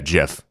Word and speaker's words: GIF: pronunciations however they're wrong it is a soft g pronounced uh yeah jif end of story well